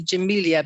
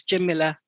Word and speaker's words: Jamila: actually meant to ask i tend to emphasize the i in your name jamila do you do you pronounce it jimila is that right yeah jamilah some people say jamilia but it's jim miller it means beautiful it